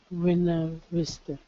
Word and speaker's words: Buena Vista: We tend to say buena. I'm not sure exactly what it is for Spanish. Buena Vista is how I would pronounce it. Buena Vista. Good. Buena Vista. Yeah, 2 syllables. Buena.